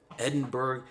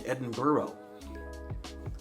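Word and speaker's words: Edinburgh: cuz I'm going to Edinburg Scotland is it Edinburg Edinburough it's spelled like Edinburg but when I hear people say it they be saying Edinburough am I doing everything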